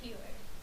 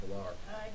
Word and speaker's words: Peeler: how do you say your last name? Peeler. Peeler. I'm glad I asked, because I would have said Pilar.